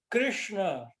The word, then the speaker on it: Krishna: H aí é mudo Krishna retroflexo esse esse Krishna aí tem tem que enrolar um pouquinho a língua Krishna e a E